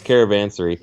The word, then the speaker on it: Caravansary: It was Caravansary, and I was actually doing some research on